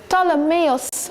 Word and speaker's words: Ptolemaeus: Ptolemaeus, that's the correct pronunciation. You can see the two feathers, E, and the folded cloth, S.